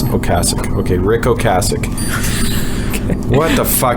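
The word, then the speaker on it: Ocasek: I said Okasich like John Kasich the presidential.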